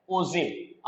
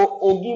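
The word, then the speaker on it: ogive: देखिए, लिखा तो ओ जी जाता है, लेकिन इसका जो प्रोनाउंसिएशन है वो ये रहेगा, ध्यान रखिएगा, दैट इज ओजिव। आप इसको ओगिव नहीं बोलेंगे, जी नहीं होता है, जी साइलेंट रहता है, जे होता है, जे ओ जीव। ध्यान रखिएगा, ओगिव कोई प्रोनाउंसिएशन नहीं है। The correct pronunciation of the this word is ओजिव।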